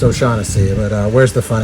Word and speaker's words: O'Shaughnessy: um so that one's got the number four o'shack on it and the number six in the